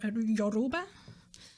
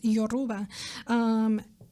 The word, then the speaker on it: Yoruba: stem from like your yoruba um i pronounced that bad before i mispronounced that yoruba and that cultural practice